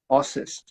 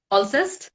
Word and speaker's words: Alcest: Ossist. Alcest. I don't know how you pronounce it. I think Alcest is Alcest. All right, I guess we'll have to check it out. Yeah, it's ALCST.